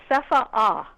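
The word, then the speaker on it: CEFAA: governments agency right that's correct it's actually they pronounce it seha a okay which is s of strange to us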